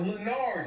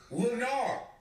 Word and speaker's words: Lenarr: My name is not Lenard. Ooh. It's Lenarr. More like Lenarr. Lenarr. For real, don't get fucked up. Anybody else got a problem with saying my name? Lenarr. Get out of my class. It's not fucking Lenard. It's Lenarr. No D at the end.